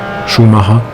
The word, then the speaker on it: Schumacher: Mostly developed in collaboration with Michael Schumacher, or in German Michael Schumacher, if you would say it correctly.